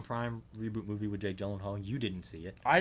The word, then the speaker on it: Gyllenhaal: Yeah, Jake Gyllenhaal. That's how you pronounce his name.